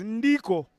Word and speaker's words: Ndiko: The Kenyans pronounce his name as Ndiko.